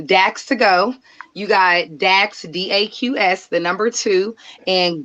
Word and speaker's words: Daqs: You got Dax, DAQS, the number two, and go is gonna be spelt GEAUX.